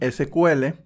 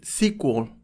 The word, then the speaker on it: SQL: relacionales que probablemente usas probablemente ya hayas notado la pronunciación diferente algunas personas dicen sql otras personas dicen si cool yo tiendo a decir sql cuando hablo del lenguaje original en sí y digo si quo cuando se combina con otra cosa como